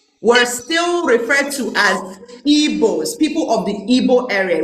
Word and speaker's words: Igbo: Now, in 1912, Ndigbo were still referred to as Igbos, people of the Igbo area. It was spelled E-B-O-E. Because the book sound, the GB sound, was so hard for them to pronounce that they hear Igbo.